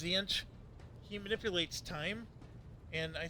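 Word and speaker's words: Tzeentch: There's the Zech, which it begins with a T, but I think it's pronounced Zench.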